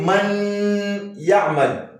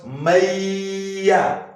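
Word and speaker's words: من يعمل: You can't say man ya'mal, or you can't equally say man ya'mal. The correct pronunciation is what? Mayya. Mayya.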